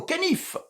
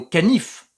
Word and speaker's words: canif: qu'il y a une tension à couper au canif. Yes, je dirais même une tension à couper au berger allemand. Non, John, je n'ai pas dit une tension à couper au caniche, mais au canif.